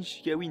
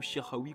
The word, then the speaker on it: Chikhaoui: Donc on se trouve pour le player review de Yassin Chikawi Inform, ou Shirawi comme vous voulez, ça dépend de la prononciation des gens.